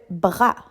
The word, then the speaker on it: bras: Le bras le e r a bras. Ici avec le mot bras, tu dois porter attention au SM muet qu'on voit à la fin. On pourrait utiliser le mot bras dans la phrase j'ai mal à mon bras.